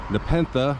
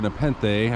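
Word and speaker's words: Nepenthe: Nepentha or Nepene, I've heard it pronounced both ways, is where I'm going to eat.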